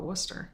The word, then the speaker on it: Worcester: Well, we just call it Worcester.